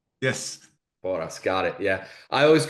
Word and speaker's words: Porras: His name is, and you said it's Porras. Yes. Boras, got it. Yeah. I always go with the pronunciations.